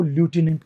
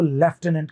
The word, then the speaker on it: lieutenant: American लोग इसको ल्यूटेनेंट कहते हैं, ब्रिटिश लोग इसको लेफ्टिनेंट कहते हैं, जबकि इसमें एफ नहीं होता।